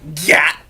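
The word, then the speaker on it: gyat: say this word correctly g y a t Gat that that's how you say it g g Gat what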